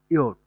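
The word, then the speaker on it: Jot: হ্যাঁ, আর যেটাকে আমরা হচ্ছে যে বলি, ডয়েছে জ কোনো বর্ণমালার অস্তিত্ব নাই। এটা সেটা আপনি বর্গীয়ার্য বলেন, অন্ত্যার্য বলেন বা হচ্ছে জপলাই বলেন, হ্যাঁ? যাই বলেন সেটার হচ্ছে ডয়েছে ইয়ট। যেকে ডয়েছে বলে ইয়ট। এটার উচ্চারণ হবে ইয়ট।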